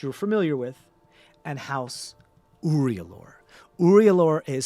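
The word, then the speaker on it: Uriulor: house trus which you're familiar with and house uror uror is spelled u r i u l o r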